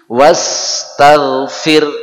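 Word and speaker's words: واستغفر: Jadi wastaghfir, kita biasa baca gitu. Tapi tulisannya wastaghfirhu, ada haknya. Sehingga kalau diputus di situ yang benar wastaghfir ya.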